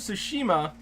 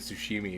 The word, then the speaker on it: Tsushima: Yes, Ghost of Tsushima. Yeah. I said it right again. Yeah. We're going to start messing it up now, calling it Sushimi again.